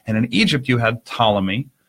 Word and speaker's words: Ptolemy: in Egypt you had Ptolemy spelled with a silent P in front just like Poole and it led to